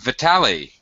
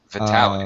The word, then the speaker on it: Vitali: Did I correctly pronounce your name? Vitali. Uh, yeah, yes, you're the first correctly teacher that had pronunciation my name. Miracle. Okay. It's usually Vitaly, Vitaly, Vital.